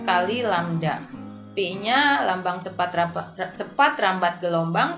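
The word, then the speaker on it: λ: Nah, menghitung panjang gelombang, ini lambangnya panjang gelombang seperti ini dibacanya lambda ya.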